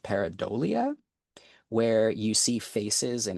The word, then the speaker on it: pareidolia: One common example you might have seen circulating around the internet is this phenomenon of, I think it's pronounced pareidolia, where you see faces in everyday objects.